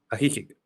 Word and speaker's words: Ajijic: Y corrígeme cómo se pronuncia bien, ¿no? Ajijic o Ajijic. Ajijic. Ajijic, en Ajijic. Cuéntame qué sabes por ejemplo, de esa zona.